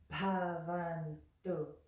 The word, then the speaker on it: Bhavantu: You're going to put your tongue on the back of your front teeth and draw it back to make the ta, ta sound. So that word is Bhavantu, Bhavantu, Bhavantu.